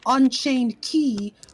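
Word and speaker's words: Unchained χ: Because it used to be pronounced key, but now it's pronounced cross.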